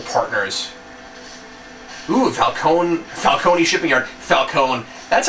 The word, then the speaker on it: Falcone: Typical Robin There's one Batman at Falcone conflict.